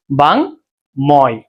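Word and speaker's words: বাঙ্ময়: যেহেতু বাঙময় শব্দের শেষে একটা অন্তঃস্থ আছে তাই এই অন্তস্থ এর আগে এই ম এর সাথে যে অটা এই অটা কখনোই ওকার হওয়ার কোন সম্ভাবনা নাই। তাই এখানে উচ্চারণটা বাঙময় না হয়ে কি বায়।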